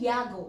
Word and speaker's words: Yago: or Lady Honoria Saltpen Yago, okay, pronounced as Yago.